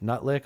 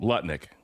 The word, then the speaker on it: Lutnick: So we've got Nut lick on one side. That's Nut lick, right? Yes. Okay, got Howard Rubio. Howard What's the real way to say his name? Lutnick.